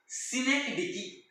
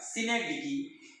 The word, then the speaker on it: synecdoche: Then there is अ सिनेक्डिकी, SYNECDOCHE. Spelling नीट लक्षात घ्या. सिनेक्डिकी, SYNECDOCHE, सिनेक्डिकी.